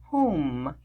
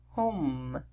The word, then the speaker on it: home: consonant e silent e the e helps letter o sound o with silent e the sound is o home home all right one more